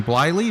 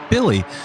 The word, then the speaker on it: Billy: maybe um Michael Billy who we were calling blyly but I learned to the YouTube comments is pronounced Billy so uh I'll be